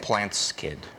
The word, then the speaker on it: Plant Skydd: Plant Skid. It's spelled Plant SKYDD.